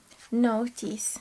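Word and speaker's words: Nauthiz: Notice, yeah, not knees.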